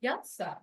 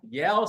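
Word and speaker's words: Yelhsa: Yelsa. Yelsa. Why, it's Ashley backwards. The H is silent.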